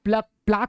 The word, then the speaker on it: plaque: होता, इसको हम लोग प्लेक बोलते हैं, प्लक बोलते हैं इसको, PLAQUE, है ना। इसको हम लोग प्लाक बोलते हैं, प्लाक, एक्चुअल प्रोनाउंसिएशन है प्लाक, है ना।